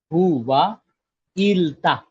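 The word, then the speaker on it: hyvää iltaa: Who wa ilta. Ilta is what? Evening. This is what the pronunciation will look like once you break down.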